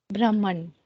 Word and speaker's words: Brahman: Brahman. Don't make it Brahman. Okay, the Brahman is how we pronounce it in Sanskrit. Brahman. Okay, or Brahman if you want to go Hakara first.